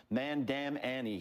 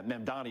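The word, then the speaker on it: Mamdani: Especially when you have how do you pronounce his name again? Sharpton called him Mandam Annie. He added nine letters to the guy's name. It's it's remarkable. Yeah, Mandani is the correct way.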